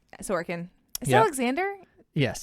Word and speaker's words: Sorokin: Alexander Sorokin. Sorokin. Is it Yep. Alexander? Yes. That's spelled differently.